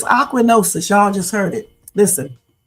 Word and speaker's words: ochronosis: But it's ochronosis.